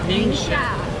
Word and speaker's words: Ningxia: So if you're ever at the, how do you pronounce the market name? NIngxia.